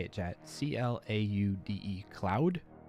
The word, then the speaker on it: Claude: it loading come on I got limited time Cloud how do you say it chat c l a u d e cloud Claude did not go through Claude